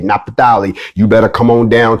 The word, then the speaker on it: Naphtali: If you are from the tribe of Naphtali, however you want to pronounce it, I'm going to say it the way you're supposed to say it, Naphtali.